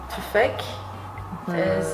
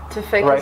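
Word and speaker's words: τουφέκι: Tufek? Is it like a gun, you know? Yeah. But like... Tufek is like a specific gun, yeah.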